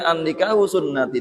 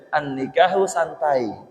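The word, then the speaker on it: النكاح سنتي: Aslinya tulisannya an-nikahu sunnati. Nikah itu sunnahku. Tapi dia membacanya an-nikahu santai.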